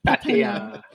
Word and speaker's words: Pattaya: Like when you hear a foreigner pronounce Pattaya. It's Pattaya. Pattaya.